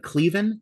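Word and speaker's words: Caoilfhionn: I thought and her name is uh uh I had to look it up to see how to pronounce it because it's a it's an Irish name. Uh apparently Cleven Cleven Dunn is her name.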